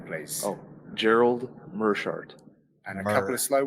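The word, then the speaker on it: Meerschaert: Mearshart. Oh, full name, please. Oh, Gerald Mearshart. And a couple of slow ones. Gerald Mearshart.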